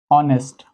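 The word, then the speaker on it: honest: इसके लिए हम इसका उच्चारण देखेंगे। इसका उच्चारण होता है ऑनेस्ट। तो ऑनेस्ट का उच्चारण हो रहा है। आ यहां पर है।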